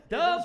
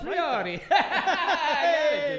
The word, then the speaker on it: Del Priore: Del Priore. Del Priore.